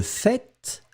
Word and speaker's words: fait: Faites attention, je prononce le fait, je prononce le T. Hein. Certaines personnes ne prononcent pas le T, le fait, mais souvent on va le prononcer.